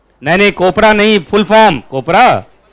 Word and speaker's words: COPRA: अब कोपरा में कहीं गलती से प्रोनाउंस कोई बच्चा कोबरा कर दिया तो बच्चा पढ़ने के बजाय भाग ही जाएगा, है कि नहीं?